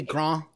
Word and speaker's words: grand: You could probably be French about it and just say grande, or it'd be grand. It would be, they don't pronounce the D, it'd be grand.